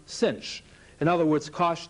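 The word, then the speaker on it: sinh: and that's written s-i-n with an h-hyperbolic sign pronounced cinch in other words cosh t is the x coordinate of p sinch t is the y coordinate of p and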